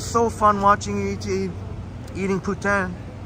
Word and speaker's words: poutine: fun watching YouTube eating putan which is the proper pronunciation for poutine and that poutine sure